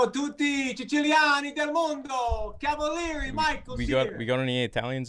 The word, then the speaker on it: Cavalieri: Today we have a very special guest, Michael Cavalieri. Am I saying it right? You got it right. Cavalieri, Very Italian.